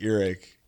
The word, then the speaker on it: Earache: It was on Earache Records. How you pronounce this?" And I was like, "Earache," and he was like, yeah.